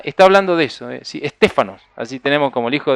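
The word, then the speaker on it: στέφανος: laureles y guirnalda está hablando de eso si stefanos así tenemos como el hijo de nuestra emoción stefanos bueno esa es la pronunciación del vocablo que significa esa corona corona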